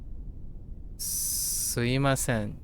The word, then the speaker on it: すいません: In speech, you will often hear it being pronounced like suimasen.